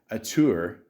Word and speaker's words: auteur: Fraser's film career was revitalized by appearances in major auteur.